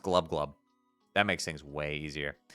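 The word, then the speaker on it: Gl'bgolyb: It's pronounced glubglub.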